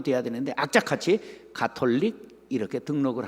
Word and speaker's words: 가톨릭: 카톨릭이 아니라 뭐죠? 가톨릭이라고 불러야 돼.